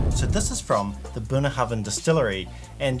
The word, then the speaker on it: Bunnahabhain: so this is from the buna hoven distillery and just so you know it's not pronounced and it's not burna hoven so there's some really